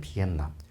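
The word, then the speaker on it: Việt Nam: 당연히 그리고 이제 그 보통 이제 베트남 하면은 우리는 베트남 그러는데 그 실제 그 사람들 발음은 옛남이거든요. 비엔남. 비이 월이고 남이 남입니다.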